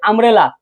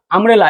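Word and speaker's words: umbrella: এখন বলো তো, এই যে আমরেলা, আমরেলা, এখানে কি উচ্চারণ কি ইউ? ইউটা কি ভাওয়েল না? ইউটা কি বলতো ভাওয়েল না? এখন ইউ কি ইউ এর মতো উচ্চারণ হয়েছে নাকি আ হয়েছে? ইউ কি ইউ এর মতো উচ্চারণ হয়েছে? আ হয়েছে।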